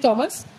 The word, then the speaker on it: Thomas: হ্যাঁ, টমাস, THOMAS, যেটা তোমরা থমাস বলো, অ্যাকচুয়ালি প্রোনাউন্সিয়েশন টমাস।